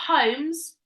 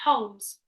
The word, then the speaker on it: Holmes: say it right uh L is totally right but it's a silent yeah it's a silent that's not homes it's Holmes it's a silent El isn't it no it's